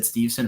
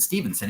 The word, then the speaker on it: Steveson: I'll be honest, until the broadcast said Steveson about 25 times and I was making fun of it to myself, I realized his name isn't Stevenson, it's Steveson.